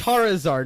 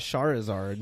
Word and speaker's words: Charizard: squeeze like I mean it's Charizard not sha resort yeah but it's also